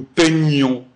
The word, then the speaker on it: peignons: Pareil pour peindre, nous peignons, vous peignez. Ça se prononce nye.